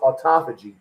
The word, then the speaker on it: autophagy: It's pronounced autophagy.